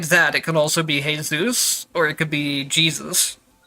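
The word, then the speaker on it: Jesús: So if it's a Spanish pronunciation, then it would be Jesus, right? Where it's pronounced with like an H instead of a J.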